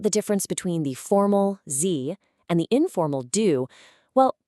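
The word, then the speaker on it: Sie: And that word is Z. Yep, it's pronounced Z, just like the letter Z.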